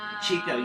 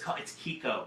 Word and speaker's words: Chico: Also Chico, it's Kiko. People say Chico all the time. That's why I was saying Kiko's Is it right. really Kiko? Kiko is how it's pronounced, yes. Chico is Kiko. This Chico. entire time I've been calling it Chico. I did the same thing. It is Kiko.